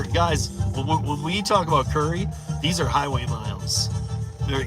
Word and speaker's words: Curri: what you're doing what Curry spelled like this C Ur r i uh it's B2B stuff